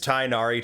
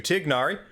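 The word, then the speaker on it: Tighnari: I do uh well de-anglicize tainari to tignari I haven't chosen to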